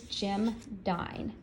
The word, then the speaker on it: Jim Dine: today his name is Jim dine now I love his name because it was always easy for me to remember Jim dine rhymes with Valentine so that's an easy